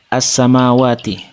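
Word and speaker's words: السَّمَاوَاتِ: Yang pertama, lafal as-samawati. Hukum bacaannya alif lam syamsiyah, sebab alif lam bertemu huruf sin. Cara membacanya adalah suara lam sukun dimasukkan atau diidghamkan ke huruf sin.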